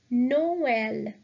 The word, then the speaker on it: Noël: So we will pronounce both these vowels separately. So the word is Noël, Christmas. Noël, Noël.